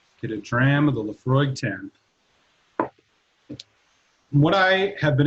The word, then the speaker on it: Laphroaig: it forever uh this one in specific laphroaig pronounced laphroaig is an all malt scotch whiskey from the